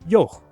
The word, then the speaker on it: yogh: glide y and ye, and the raspy sound at the end of its own name, yoch.